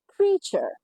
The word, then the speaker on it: creature: এটার যে আসল উচ্চারণ আসল উচ্চারণ যেটা সঠিক উচ্চারণ সেটা হলো ক্রিয়েচার ক্রিয়ে এমন অনেক ভিডিওতে আপনারা পাবেন যেটা আপনাদেরকে